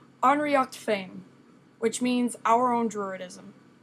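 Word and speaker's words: Ár nDraíocht Féin: that's not what I wanted um it is pronounced unrea Fame which means our own druidism jism in this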